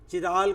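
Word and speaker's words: chiral: करते हैं और ये कायरल कार्बन कहलाता है। इससे एसिमेट्रिक कार्बन भी कहते हैं, कायरल भी, कुछ लोग इसको चिराल करके भी प्रोनाउंस कर देते हैं। अलग अलग दुनिया में अलग अलग प्रोनाउंसिएशन।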